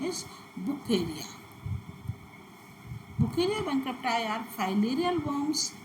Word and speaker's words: Wuchereria: Actually, its name is according to its Brazilian doctor who discovered it, and his father was German. Therefore, the correct pronunciation is Bucheria.